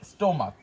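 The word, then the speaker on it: stomach: তাহলে এই জায়গায় সিএইচ এর উচ্চারণ কয়ের মতো হচ্ছে, তাহলে এখানে এস যুক্ত হবে।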